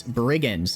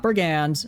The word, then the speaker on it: brigands: bunch of brigin and I'm saying it correctly this time it's brigin not brigands brigin ooh worm Berg you